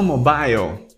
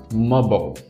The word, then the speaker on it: mobile: Falou mobile? Tudo bem, você não está sozinho. A maior parte das pessoas falaria mobile. Mas o correto é mobile.